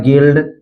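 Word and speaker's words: guild: इसी तरह है गिल्ड, गिटार, फिर है गाइल, गार्ड, बिस्किट, तो इन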